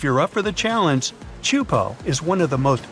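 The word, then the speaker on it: Teahupo'o: It's pronounced Chupo, and it means broken skulls in Tahitian.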